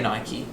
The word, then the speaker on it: Nike: so i think people mike or nike i say nike okay um and gucci